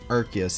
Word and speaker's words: Arceus: the films since the Arceus one, or Arceus as they pronounced it there.